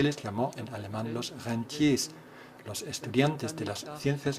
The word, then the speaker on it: Rentier: Los estudiantes de las ciencias económicas tienen que tener mucho cuidado para no pronunciar este término a la alemana. Sería entonces Rentier. Se escribe igual, pero con esta pronunciación el significado cambia a Reno.